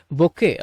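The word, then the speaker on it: bouquet: பொக்கே அப்படின்னுதான் உச்சரிக்கணும். டி அப்படிங்கறது silent சரிங்களா தென் பிறகு ஐ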